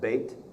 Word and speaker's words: Beth: picture of Beth Shemesh Beth wood it would be pronounced bate but this is the